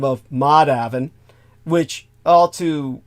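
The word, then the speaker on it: Madhavan: a last name of Maven which I'll to it's spelled m a d ha A V an so you can bet everybody calls him mad Haven uh it's published by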